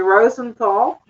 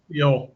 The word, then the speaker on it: Rosensteel: So my guest is, besides Sal, is Gary Rosenthal. Am I pronouncing it? Pardon me? Rosensteel.